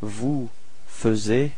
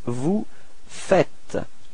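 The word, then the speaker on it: vous faites: Uh logically we could put this vu fuz but then no it's vu fet. Okay keep in mind that final s is not pronounced vu fet.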